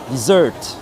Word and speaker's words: dessert: deserer non en fait l'accent l'accent tonique est différent sur un dessert sur un dessert c'est la deuxième C qui prend desert